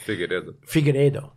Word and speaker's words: Figueiredo: Figueiredo. Sorry, thank you. We can talk about that next week. Yeah, for sure. We gotta learn how to pronounce it though. Yes, Figueiredo.